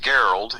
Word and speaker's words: Gerald: It's like Gerald, only it's pronounced Geralt.